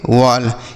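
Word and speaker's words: wall: भाई स्टॉल डब्ल्यू A double L इसे पढ़ेंगे वॉल क्या पढ़ेंगे मेरे भाई वॉल एम ई डबल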